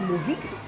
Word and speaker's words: mojito: So guys, I'm just about to have a mojito. It's spelled mojito, but the J is pronounced As a H.